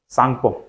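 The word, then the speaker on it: Tsangpo: है क्या लिखाता है ये टी साइलेंट रहता है और फिर सां को लिखा ठीक है सांग ऐसे लिखाता है सांगपो हा तो देखो कैलाश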